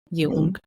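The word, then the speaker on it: Jung: as well yeah and Yung you can pronounce both Yung is a German pronunciation American pration and then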